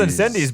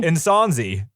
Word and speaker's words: Incendies: It's not called Incendies, by the way. It's pronounced... What is it? It's called Incendies? Really? Insonzi. Incendies. Insonzi.